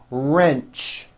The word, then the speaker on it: wrench: porch march patch wrench notice the strong r sound at the beginning of that word wrench coach approach also with